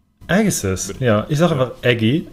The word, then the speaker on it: Agassiz: Ja, ähnlich wie Josh Bryson fand, was mit Graham Agassi, wie wird Graham Agassi eigentlich ausgesprochen? Ja. Wie Agassi. Agassiz. Agassiz, ja.